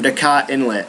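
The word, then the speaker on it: Dajkot Inlet: The next 5 heroes can be you can easily get their armor from Dakat Inlet. I think the J is silent, but if you need to know exactly where it's at, I'll probably be putting a picture right here.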